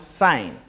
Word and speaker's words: sine: So fundamental trig ratios are sine, which is abbreviated as SIN, pronouns sine, SIGN.